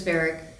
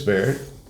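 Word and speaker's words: Barrick: Bareric. Barrett.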